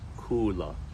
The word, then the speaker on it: Kula: top of the mountain is Kula and it's pronounced Kula from there if you go down the mountain